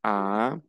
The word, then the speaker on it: as: La S final no se pronuncia. Tu as, il a, elle a, on a.